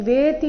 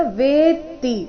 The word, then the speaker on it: ವೇತ್ತಿ: ಏವಂೌ ಯ ಏವಂೌ ವೇತಿ ಇಲ್ಲಿ ವೇತಿ ಅಂತ ಇಲ್ಲ ವೇತ್ತಿ ತಕೆ ತದ್ವತ್ತು ವೇ ಮೇಲೆ ಸ್ವಾಭಾವಿಕವಾಗಿ ಆಘಾತ ಬರಬೇಕು ಯೇವಂೌ ವೇತಿ ಪುರುಷಂ ಪುರುಷಂ